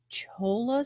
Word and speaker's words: cholla: How do you pronounce that? Cholla spines?